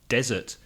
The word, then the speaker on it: desert: with digital which is desert desert the zero has the stress on the first syllable and 1s desert but